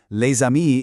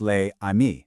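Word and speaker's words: les amis: So, leami isn't pronounced lei. No, that s jumps over and it becomes one single fluid sound.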